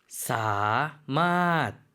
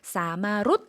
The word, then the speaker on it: สามารถ: สามารถ 사만 혹시 우리 학습자 중에 태국어를 같이 글자 보고 계신 분이 있다고 하면 이 글자는 읽는 방법이 좀 독특합니다. 사마롯 아니고 사맛이라고 읽어주셔야 됩니다.